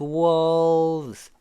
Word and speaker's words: walls: has on 그 다음에 nameless walls wall 그 다음에 S 발음 지으는요. 발음 소리만 살짝 내고 갑니다.